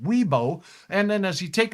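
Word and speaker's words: Wibaux: Mid60s in the valley near 70 at the Montana border including Glendive and Ybox. Otherwise pronounced Weibo.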